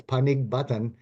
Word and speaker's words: Panig Batan: you can see it, it says Panig Batan. That is exactly almost how it's pronounced. It's Panig Batan, but if you make that G a C, now we're at Panic Button.